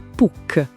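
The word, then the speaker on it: Puch: Questa marca austriaca PUC pronuncia PUC con la K bella marcata alla fine.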